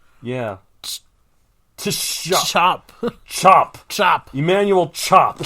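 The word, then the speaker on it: Tschopp: right here sorry oh that's his name yeah chop chop chop chop Emanuel chop chop chop chop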